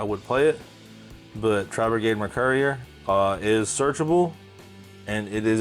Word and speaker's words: Mercourier: Tri-Brigade Mercourier, like a delivery. It is a drone. It brings back data. It is Mercourier.